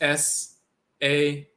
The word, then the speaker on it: Sah: So that's S-A-H, which is sa. Sometimes written sahu, but sa, the spirit body.